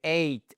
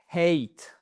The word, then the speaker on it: ate: Donc c'est ate. Et attention, ce n'est pas hate, parce que hate, c'est la haine.